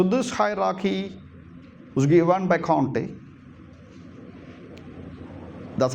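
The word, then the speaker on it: Comte: So this hierarchy was given by Conte. That's how you pronounce his name, Conte.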